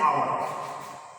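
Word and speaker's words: hour: जैसे आवर, यच, आवर, तो ये यच है लेकिन यच का उच्चारण नहीं हो रहा है, इसको हम पढ़ेंगे आवर।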